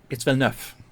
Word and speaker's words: Villeneuve: places that have Neuf, but it's the same pronunciation as Yes. with the VE. But there's nothing special to it. It's Villeneuve. Villeneuve, And, right. and sharp, very sharp. Villeneuve.